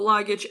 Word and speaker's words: luggage: Luggage, so luggage, L-U-G-A, so, and baggage, B-A-G-G-A, okay. So this A, we don't pronounce it as A, as E. So we pronounce it as I. Baggage, baggage. Or luggage, luggage.